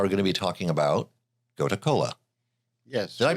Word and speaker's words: Gotu Kola: today we are going to be talking about go to Cola yes did I pronounce that right yeah go to Cola g t u k no there two words